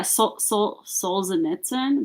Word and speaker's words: Solzhenitsyn: Yeah, Solzhenitsyn.